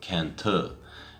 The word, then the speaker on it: Cần Thơ: This is a hotel in the city of Cantor. It's spelt C-A-N space T-H-O, but the tho at the end is actually pronounced more like T. And I'm probably getting that wrong as well.